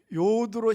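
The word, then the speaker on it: יוד: 자, 요드로 시작하는 히브리어. 여러분, 요드로 시작하는 히브리어가 바로 요 단어예요. 야드인데 야드, 요드. 발음만 틀려요.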